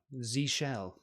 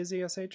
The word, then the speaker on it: zsh: earlier Zs yeah yeah Zell zsh yeah a lot of people say zsh I guys I don't know I just say Zell it's easier it's less syllables um e efficiency right